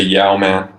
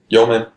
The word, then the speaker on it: yeoman: how you pronounce it I would say yau-man int omen its yeoman you know young man young man argument yo man what's